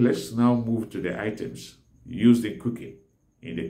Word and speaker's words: ite: All pots are called ite. In Igbo language, ite is spelled as E-T-A, ite.